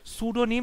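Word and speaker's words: pseudonym: ভালো করে মনে রাখবে শব্দের বানানটা সুডোনিম এখানে সামনে একটা পি আছে পি টা সাইলেন্ট থাকে ড্রেস উইথ মেডেলস রিবনস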